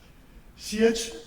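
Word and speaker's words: Sieyès: del libro El tercer estado o otros pronuncian cieg. Sí, siell es pero la pronunciación exacta me dice alguien que habla bien francés esch era un cura que escribió el libro del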